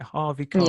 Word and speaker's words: Harvey Keitel: say his name all right, Harvey Keitel.